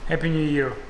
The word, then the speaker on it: Happy New Year: будет с Новым годом Happy New Year неправильно happ нет happ happ Да Толь Нет ты говоришь правильно ты Ударение неправильно ставишь happ happ Year ударение на New Ребята с Новым годом